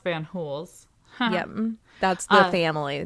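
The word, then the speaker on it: Fanjul: So now we go off to Central Romana plantations, and it's pronounced Van Hools.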